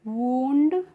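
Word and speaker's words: wound: तो इसको पढ़ेंगे हम वूंड।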